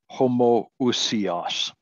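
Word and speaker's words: homoousios: really important word uh we pronounce it homo usias homo is uh the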